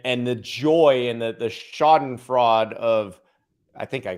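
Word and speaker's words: Schadenfreude: joy and the the shoddin fraud of i think i pronounced that word right i think it's shad and freud and freud yes that i always get it wrong of exposing the mainstream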